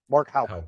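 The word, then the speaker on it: Mark Houck: So like 25 FBI agents knocked this Mark Hook, I guess is how you say it, or Hauk. Mark Hauk is how you say his name.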